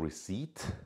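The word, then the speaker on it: receipt: چهجوری بهش بگیم خب رسید که میشه ریسیت اون پیش تلفظ نمیشه اونم که پرایس تگ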